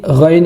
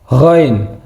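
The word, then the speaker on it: غين: Jadi gain ini lebih ee hampir mirip dengan huruf g. K tadi masih di pangkal tenggorokan sama seperti ha. Jadi tidak terlalu berat jika gek lagi ke dalam. Jadi ee pengucapannya lebih ee lebih dalam lagi.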